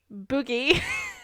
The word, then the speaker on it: Bugi: Sinidra Boogie. They boogie? Yeah. Maybe it's Budgie, but it's spelled Bugi. It's Budgie.